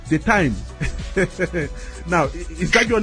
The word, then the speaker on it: Dytmi: It really is difficult for me to pronounce. Can you help me with it? Okay, the name is called Dytmi. Say that again. Dytmi. Dytmi.